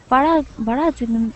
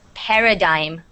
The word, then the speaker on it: paradigm: But it's pronounced paradigm, the G is silent.